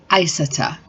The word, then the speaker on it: Aissa: So my daughter's name is Isata, but it's shortened to Isa, and it is spelled Aissa, and people cannot get her name right.